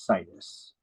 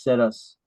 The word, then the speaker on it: situs: I like to pronounce it as situs, because once you find that perfect location where you want to move, you want to build a house. Sit us there. Yep, we're going to sit us right here.